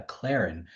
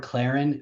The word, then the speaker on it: Clairin: It's uh the word Claren. Uh well, it's it's like C C L A I R I N, but it's also spelled like with a K and it and it's a reference to Haitian Creole for clear uh or clear Claron.